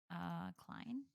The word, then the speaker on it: Klein: Klein? Klein pronounce? Clean? Like Mr. Clean? Klein. Klein. Oh, Klein. Oh yeah, like Calvin Klein.